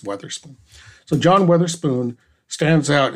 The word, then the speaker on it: Witherspoon: I learned Witherspoon, what we call Witherspoon, is pronounced Weatherspoon.